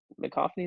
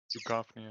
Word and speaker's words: Duchovny: And it's just funny to see how it goes, and I believe that's David McCoffney that you said. Duchovny, I think is how you say it.